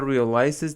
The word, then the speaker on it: realize: The couple realizes that it is an unusual and very scary doll. Realize stress is on R.